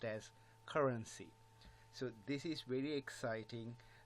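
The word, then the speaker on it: CRNC: all cryptocurrency called C R NC which is pronounced as currency so this is very exciting very huge there's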